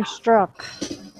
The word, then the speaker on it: Strzok: His name is Peter Strzok.